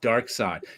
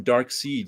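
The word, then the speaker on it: Darkseid: I always call them dark seed because that's how it would spell it's actually yeah um in English it would be pronounced dark seed but in German it would be pronounced Dark Side that's how that's what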